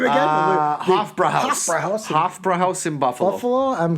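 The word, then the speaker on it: Hofbräuhaus: How do we pronounce that name again? Hofbrauhaus.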